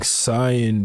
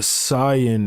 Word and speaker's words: Saiyan: breakdown, but ultimately Goku is able He's saying Saiyan because that's the correct way to pronounce the word. Saiyan is how, like, we say it, right? Like Super Saiyan. But Saiyan is how you say the word.